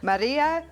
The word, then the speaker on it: Marija: so I'm going to say it right here, Marija I.